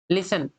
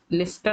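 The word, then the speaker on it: listen: लिसन, मैंने बोला, अच्छा इसको लिस्टन नहीं पढ़ना है, इसको लिसन पढ़ना है। लिसन, टी साइलेंट होता।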